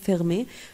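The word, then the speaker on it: fermée: بحفظهم بتركيز فيرمي مغلق فيرمي avec e بتبقى برضو نطقها فيرمي بس معناها مغلقة اوفير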